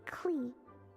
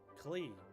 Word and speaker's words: Klee: My name is Klee. Klee. Okay, that's how you spell it. Or spell it. How you pronounce it.